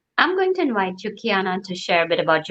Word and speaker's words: Keyonna: hi everybody and kiana just to confirm i'm pronouncing your name correctly right it's kiana kiana okay so let's uh i wanna make sure